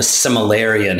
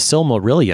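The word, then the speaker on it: Silmarillion: great book written by JRR tolken called the Similan have you read this book or no the the sil marilan there you go I never pronounced anything right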